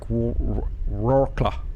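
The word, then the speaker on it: Wrocław: I can't pronounce it. I think I better be right. It's in Poland. Wroclaw, not Warsaw. That's like Wroclaw.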